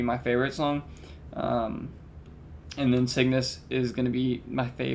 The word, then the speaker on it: Cygnus: Cygnus?